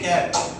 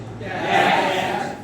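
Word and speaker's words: cat: আচ্ছা সি এটি ক্যাট এটা উচ্চারণ করো দেখি উচ্চারণ করো সবাইকে বলেছি ক্যাট আবার ক্যাট ক্যাট নয় ক্যাট নয় ক্যাট ক্যা খা এর মত উচ্চারণ আসবে ক্যাট ক্যাট ক্যাট ক্যাট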